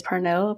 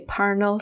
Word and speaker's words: Parnell: I read somewhere that's how it's pronounced, not Parnell everybody says Parnéll, but apparently supposed to say Párnell Street, named after Charles Stewart Parnell.